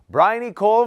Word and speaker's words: Bryony: Please welcome to the South by Southwest studio, Bryony from Melbourne. Very nice. How was my pronunciation?